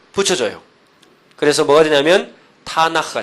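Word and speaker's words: תנ״ך: 그래서 뭐가 되냐면 타나크가 된 거. 타나 키 내지는 히어 발음 타나흐.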